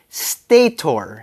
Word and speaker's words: stator: pronounce stat right because stat is supposed to be pronounced stator stator tomato tomato stat Stater all right fun fact Stater is actually short for two words stationary rotor and because of that